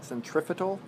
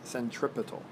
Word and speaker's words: centripetal: because of centripetal force a lot of people incorrectly put an F in here when they say it it's not it's not centrifical it's centripetal it's a very commonly